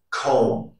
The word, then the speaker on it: comb: Rule number one, the letter B is not pronounced after the letter M at the end of a word. For example, bomb, tune, comb, thumb, climb, lamb.